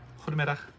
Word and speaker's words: Goedemiddag: Ready? Belgium's soft G. Belgium. Goedemiddag.